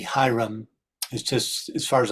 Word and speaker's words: Hiram: Next up, Hiram Abif, I don't know, this CH, this C, Hiram, is just, as far as I know, that's just pronounced Hiram or Hiram of the Chaldees, is also a solar deity.